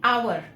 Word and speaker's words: hour: एच इज a consonant, but हम जब इसका उच्चारण करते हैं तो हम कहते हैं आवर। जब हम आवर बोलते हैं तो अ का उच्चारण हो रहा है।